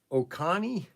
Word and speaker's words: Oconee: This is the Oconee, O-C-O-N-E-E, Oconee. Is that how you pronounce it? O-C-O-N-E-E? Oconee? Oconee? Oconee? Just go with Oconee.